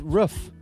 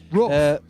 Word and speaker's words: Ruff: Man's called Ruff. Ruff. Spell that for us. Like like a dog.